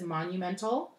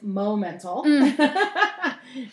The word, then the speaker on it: Momental Designs: with my business theme because it's easily mispronounced as monumental but it's mo mental instagrams atma mental also